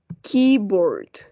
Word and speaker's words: keyboard: Keyboard. Remember, please, acuérdense que las palabras que terminan en una E y una Y van a sonar como I, right?